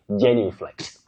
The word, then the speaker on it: genuflect: Now, Tanga, Vincent, you say genuflect, genuflect.